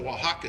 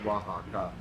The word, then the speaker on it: Oaxaca: and the OXA, so you have 3 syllables in that word, like Oaxaca, you know, well, and like I say, the stops for the syllables, and then the TC is Tlaxcala, there's actually 3 syllables there, but you have an extra stop.